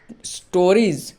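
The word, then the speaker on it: stories: মানে হলো গল্পগুলি অতএব এক্ষেত্রে এস এর উচ্চারণ বর্গীয় জ এর মত হয়েছে তাহলে আমরা বুঝলাম যে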